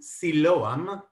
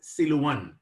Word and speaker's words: Siloam: septuaginta in ancient greek the word in hebrew was actually translated to siloam which mistranslated or mispronounced later on by arab arab speaking people as siluwan but for those who